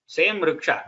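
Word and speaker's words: ऋक्ष: That Rikara is same, just like the previous person asked. Like that we had there also. Same Riksha. There it was Rikshana, here it is Riksha Sangha.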